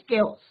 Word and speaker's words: chaos: They will surely bring us ऑल the words of केओस. तो कुछ भी नहीं बचेगा. केओस का मतलब होता है डिसऑर्डर हो जाएगा, कोई भी सिस्टम नहीं रहेगा. तो it's pronunciation is केओस, right?